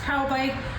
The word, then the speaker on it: Taubik: T A U B I K pronounced c tow bike and this is the 29T.